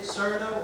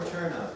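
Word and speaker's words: Cirno: Is it Cerno or Cherno? Cherno. Cherno. Cherno. It's a silent H, and you pronounce it Cherno. So you pronounce it like cello.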